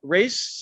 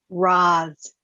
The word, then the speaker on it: Roz: I want to introduce everybody to Race. Is that how you say it? Roz. Roz. Okay, Roz. Roz.